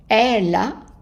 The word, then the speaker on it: elle a: Elle a, and this E here, even though it doesn't have an accent, but it's pronounced A. And that's because it's followed by two consonants.